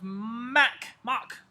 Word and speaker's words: Mock: I'm gonna play y'all out with some Joseph Mock. I need to stop saying Mac. It's because I'm an Apple guy.